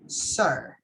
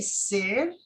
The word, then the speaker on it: sir: you don't mind julio so the best way to say this word is so sir sir yes if you say ser that sounds weird okay okay so it's better with an e sound sir sir i know that you are going to read it as an i right yeah that's a bad thing but you are going to pronounce it as sir okay awesome good good